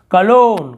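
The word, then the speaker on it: cologne: अलग रूल है, लेकिन यहाँ पे हमें जी साइलेंट है, नहीं पढ़ना है। उसके बाद देखते हैं और क्या है, कलोन, कलोन का मतलब होता है इत्र, उसे हम कलोन कहते हैं।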